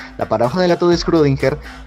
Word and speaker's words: Schrödinger: paradoja de la todo screw dinger que si se pronuncia así yo antes lo pronunciaba schrödinger y discúlpenme por favor